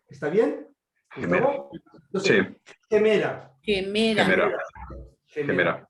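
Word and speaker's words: ἡμέρα: Quemera. Bien. En vez de E, por el áspero, es G. ¿Está bien? Gemera.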